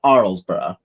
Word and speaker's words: Arlesburgh: debate about this but we asked an actual british person who said arlesburgh and then we asked her to say how she would say it if she was living back in britain and then she said arlesboro so that i mean